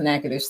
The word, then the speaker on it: Natchitoches: I always correct people because the spelling of the town that he's from it's very it's spelled NATCHITOD, something like that, but it's pronounced Natchitoches. So But they also have a city hall.